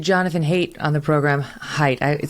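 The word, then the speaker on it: Haidt: we just interviewed jonathan hate on the program height it spelled hate but it's pronounced height um and he's you know he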